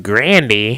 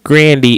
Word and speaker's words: Grande: Ariana Grande has been on the scene for several years. Yeah. Newsflash, though, we don't know who Grandy is. America knows Grande.